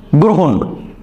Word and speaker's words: গ্রহণ: মূর্ধন্য দিয়ে, কৃপণ বানানটা মূর্ধন্য দিয়ে, বা আমরা উচ্চারণ লিখছিলাম দোতন্য দিয়ে। ঠিক একই রকমভাবে এখানে দেখেন, আপনি যদি দেখেন গ্রহণ।